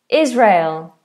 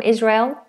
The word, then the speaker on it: Israel: Israel. Like a handrail. Rail or a railway. Rail. Israel but with a zed sound.